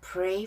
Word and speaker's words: pray: I'd pray for you. Pray for you. Play 하고 발음이 달라요.